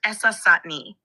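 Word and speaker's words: Essassani: Usually pronounced essati.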